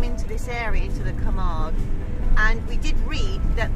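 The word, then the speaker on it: Camargue: it's called the K I've discovered it's called the Kamar region so I have been pronouncing it incorrectly thank goodness for Emma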